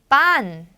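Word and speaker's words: pan: 자, 피는요 프 소리가 아니에요. 스페인 사람들이 영어의 스페인 이 소리를 잘 못하고 하네요. 이제 왜냐면 이 발음이 스페인어에 없기 때문에. 그래서 이 P는 쌍비읍이에요. 쌍비읍. 우리 쌍비읍 잘 할 수 있잖아요.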